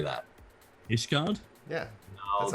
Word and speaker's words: Ishgard: We can, How do you pronounce the city in Heaven's Word? Starts with an I. How do you say that? Ishgard?